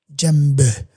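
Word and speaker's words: djembe: Jambe. Jambe. Yeah. It's called a jambe with a DJ E m. You spell it like that.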